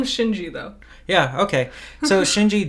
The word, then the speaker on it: Shinji: by a game director senji i'm 99 sure you're not pronouncing that right we didn't call him shinji though yeah okay so